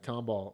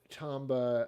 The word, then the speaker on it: Tomba: uh at on this this next one uh tomball uh tomball i mean uh what is it it's uh how do you say it again it's uh is it tomball no it's tombow yeah tamba what am i talking about tamba uh is